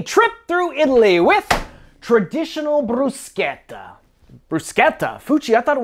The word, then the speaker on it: bruschetta: through Italy with traditional Bruce Guetta bruschetta fuchi I thought it was bruschetta well he's saying Italian the CH is pronounced as a hard K so if you want